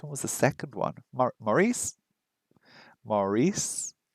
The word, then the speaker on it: Maurice: Maurice? Maurice? Emphasis on the second syllable? Maurice? Or Morris? Now, Morris would be Morris, right?